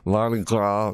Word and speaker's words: Mardi Gras: Ziegler Mercy, that's how you pronounce it, Mardi Gras Ash, it looks like it says grass without another S, grass, Mardi Gras, because I know when people say Mardi Gras, but it's spelled G-R-A-S.